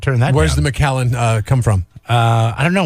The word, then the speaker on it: The Macallan: Can the Macallan do that?